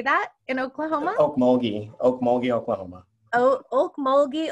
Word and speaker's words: Okmulgee: how do you say that in Oklahoma Mogi Okmulgee Oklahoma oh okay oh gee Oklahoma okay he